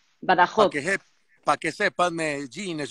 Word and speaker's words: Badajoz: Como raspando un poco más la J de... Badajoz. Para que sepas, Medellín es un municipio de España. Badajoz.